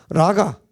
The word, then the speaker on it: 라카: 그의 형제에게, 그의 형제에 대하여 라카, 원래 발음은 라카인데 형제에 대하여 라가라 하는 자는 공에 잡혀가게 되고, 라가라고 하는 건 뭐냐면 미련한 놈아 뭐 이런 얘기예요.